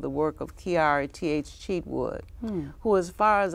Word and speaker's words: Cheatwood: and then Cheatwood, C-H-E-A-T-W-O-O-D.